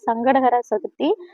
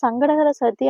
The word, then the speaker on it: சங்கடஹர சதுர்த்தி: முதலில் வந்து இந்த சங்கடகர சதுர்த்தியை முழுமையாக உச்சரிக்கணும். சங்கடங்களை அறுக்கக்கூடிய சதுர்த்தி அப்படிங்கறதுனால சங்கடகர சதுர்த்தின்னு உச்சரிக்கணும். வெறும் சங்கடகர சக்தி அப்படின்னு வந்துட்டு நம்ம உச்சரிச்சோம்னா நமக்கு சங்கடங்கள் தான் வந்துட்டு வரும். சங்கடங்கள் வந்துட்டு தீராது.